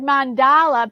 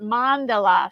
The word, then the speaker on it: mandala: about mindful mandalas and I have heard mandala pronounced two different ways I've heard people pronounce it mandala and I've heard people pronounce it Mandela so I I might